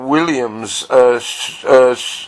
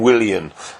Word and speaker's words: Willian: Chelsea doubled their lead when Williams' shot deflected in for 2-0. That's the Brazilian, Willian. Sorry about the pronunciation.